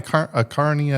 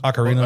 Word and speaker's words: Ocarina: But I like a Carnia of Time or whatever it was. Ocarina of Time?